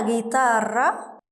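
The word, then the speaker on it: guitarra: عشان عليها نقطتين برافو وجيتارا الاو صامته ونطقنا الخي جيم صح نطقتها كايي انت كده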